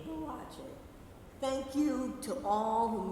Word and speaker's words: Boakye: Boakye, because that's not the correct pronunciation for his name. The correct pronunciation for his name is Boakye.